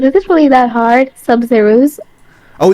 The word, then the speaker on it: Sabzeruz: Sabzeruz? Oh, it's Sabzeruz, like Sub-Zero. Sabzeruz.